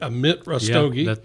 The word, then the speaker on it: Amit Rastogi: for coming on the business and paradise podcast amit rustoge i hope i'm saying it right amit russ doggy that's perfect thank you so much for being